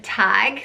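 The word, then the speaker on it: Tadhg: on my list is the name tag spelled ta DHG and this is a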